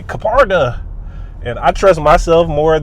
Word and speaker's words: Kpardeh: I say party and I heard the announcer say Kaparda.